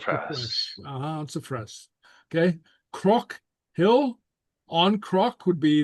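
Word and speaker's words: cnoc: Croc, hill. On croc would be the accusative. Don croc or era croc, something like that. Okay. Croc. Okay. The N here is pronounced like an R, remember.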